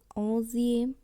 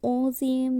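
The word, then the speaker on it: onzième: কিন্তু পূরণবাচক সংখ্যাগুলির ক্ষেত্রে এই অঁস, দোজ এই উচ্চারণগুলির সাথে ইএম যুক্ত করে কিন্তু অজিএম, দোজিএম, থেলজিএম, ক্যাথোজিএম এভাবে কিন্তু উচ্চারণ করছি।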